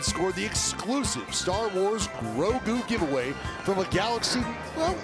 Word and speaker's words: Grogu: Grogu, pronounced perfectly.